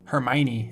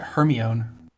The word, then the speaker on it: Hermione: but different pronunciations yeah I don't think I'd ever pronounced Hermione until the movies came out and I was like what I always said it her my own aetherium right now so